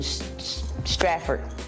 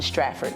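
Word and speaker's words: Stratford: Kennedy Hospital in Straford. That's how you pronounce it. Straford, New Jersey.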